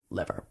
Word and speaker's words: livor: Is livor mortis. Livor. Livor mortis. But it is just pronounced liver.